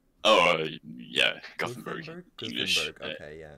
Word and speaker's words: Gothenburg: Gothenburg? Oh, yeah. Gothenburg, Gothenburg?